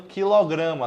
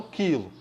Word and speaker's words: quilograma: quilojoule kilowatts a e a maneira correta de pronunciar o símbolo kg é falando quilograma tá certo e não quilo e só por curiosidade